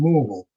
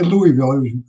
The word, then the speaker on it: Louisville: So Jimmy Cornette's from Louisville. Yeah. You don't say Louisville. I used to live there. You pronounce it Louisville.